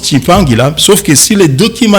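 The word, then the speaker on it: Tshimpangila: Mais la prononciation chez nous, Congolais, on sait que c'est un nom bantou, on prononce Chimpangila.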